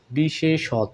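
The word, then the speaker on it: বিশেষতঃ: হবে এরকম বিশেষ সত বিশেষত অর্থাৎ শেষের বর্ণটার সঙ্গে ও কার যোগ হয়ে উচ্চারণ হয়ে থাকবে বন্ধুরা এরকম আরো শব্দ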